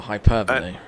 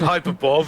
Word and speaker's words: hyperbole: never does i mean hype comes from the term hyperbole oh well hyperbole yes i know but i always call it hyperbole because that's what i used to call it when i was like eight years old or well more about 12 years old than reading books yeah i've never actually never actually heard the words spoken so it's hyperbole yeah